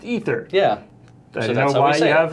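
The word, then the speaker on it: Aether: it's out there it's it's apparently in the world of magic pronounced ether yeah that's why I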